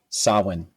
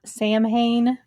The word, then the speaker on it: Samhain: It's um Halloween is a derivative from the old Irish festival sawin. Sawin sin.